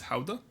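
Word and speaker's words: Gouda: the Dutch government to pronounce guda as Howa because that's how the Dutch pronounce it and if I don't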